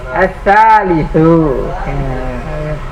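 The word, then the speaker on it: الثالث: Ad-darsu as-salisu. Yang benar bacanya.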